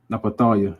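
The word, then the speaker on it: נפתלי: Napatalia, that's how you say it in Hebrew.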